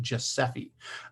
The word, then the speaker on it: GSEFE: So GSEFE, they've been pronouncing it Giuseppe.